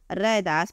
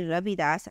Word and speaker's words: रैदास: अनेक नाम प्रचलित है जिनमें उच्चारण की दृष्टि से थोड़ा अंतर है रदास पंजाब में रविदास आधुनिक वर्तमान में सब लोग रविदास कहते हैं रदास और रदास बीकानेर की पतियों में मिलता है रविदास आदि नाम इस उच्चारण की की भिन्नता को ही प्रकट करते हैं इसलिए लोक प्रचलन और सुविधा की दृष्टि से उनका मूल नाम रैदास ही स्वीकार किया जाता है भक्त माल में भक्त